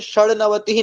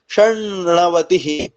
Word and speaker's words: षण्णवतिः: यहाँ ये देखिए 96, षण्णवतिः नहीं बोलेंगे, क्या बोलेंगे षण्णवतिः, षण्णवतिः, क्योंकि वहां ना को ना हो जाता है, षण्णवतिः।